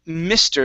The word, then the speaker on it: Mr.: Next, we have the word Mr. Instead of meester, me, it's mi, Mr.